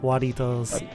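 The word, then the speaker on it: Jarritos: Waritos. Yeah. Like, it's Jaritos, but it's... You pronounce the jar like wah.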